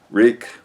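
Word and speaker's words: Rieck: Reek. How do you spell that?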